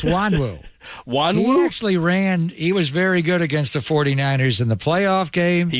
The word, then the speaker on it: Nwangwu: Wanwu. Yeah, they're Wanwu easy. from NWANGWU, and you get Wanwu from that? Yeah, the N is silent.